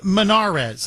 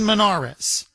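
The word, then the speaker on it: Monarez: against Susan um uh Susan Manarez, I believe is how you pronounce her last name.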